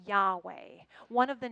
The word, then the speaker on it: Yahweh: in the Hebrew Bible they speculated that the yah is the quiet sound that we make as we inhale and that the way is the soft refrain that we answer as we exhale isn't that beautiful breathing